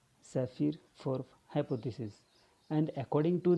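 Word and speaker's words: Sapir: sephiroth hypothesis so yes a pir is not pronounced as supplier it is saphir saphir for hypothesis and according to this hypothesis what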